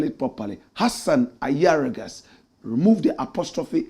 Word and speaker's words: Ayariga: And please spell it properly. Hassan Ayargas.